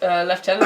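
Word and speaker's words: lieutenant: five and two red five five flying haste left tenant as long as you control your commander uh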